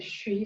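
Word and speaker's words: xū: For your liver is the Shi sound. In Chinese it's spelled X-U, but in the West we have a S-H-U sound. Just like you want to tell a child to be quiet.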